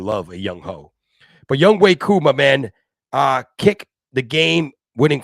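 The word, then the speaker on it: Younghoe Koo: It's pronounced Young Wei Koo, but when you read it in English, it says Young Ho. It sounds like a Young Ho.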